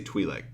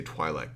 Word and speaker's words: Twi'lek: our Twi'lek on there Twi'lek do you see Twi'lek I say Twi'lek right I've heard people say Twilight before and I don't believe